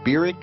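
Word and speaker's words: Barack: from kenya in august of 1959 was barrick hussein obama that's how he pronounced his name he was welcomed at hickam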